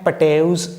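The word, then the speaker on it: Patau: ठीक है, नेक्स्ट हमारे पास में है पटेउस सिंड्रोम या पटाउस सिंड्रोम, मतलब प्रोनाउंसिएशन इसकी अलग अलग लोग कर देते हैं।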